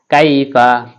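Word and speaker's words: كيف: কাইফা, কাইফা, কাফিয়া জবর কাইফা জফা কাইফা, এই কাফটা জিহ্বার গোড়া থেকে একটু আগে বাড়িয়ে তারপর অপর তালুর সঙ্গে লাগিয়ে উচ্চারণ করতে হবে।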